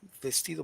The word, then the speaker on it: vestido: dress coming to bestido vestido Bastille how do you say dress no but in Spanish sounds more like b or V estido um see be